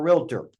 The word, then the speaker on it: realtor: I don't want to say I'm a realtor. Okay. In Tennessee, it's 3 syllables, realtor.